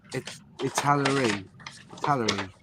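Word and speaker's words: Italeri: Robert, it's actually Longy Italieri. That's how you say it.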